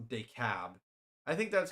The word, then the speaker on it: DeKalb: Okay, it's DeKalb.